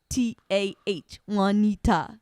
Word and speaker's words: Juanita: And then there was Juanita, and it was spelled WAN, then it was NEETAH, Juanita. So he'd say it right. Right. Because It was Juanita begins with a J, right?